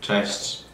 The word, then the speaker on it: Cześć: Cześć. It sounds like ciao, a little bit. Like ciao.